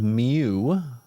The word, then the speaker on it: mu: mean the mean called mu this right here is pronounced mu and it's written mu it's a greek letter and it's pronounced like the pokemon all right uh anyway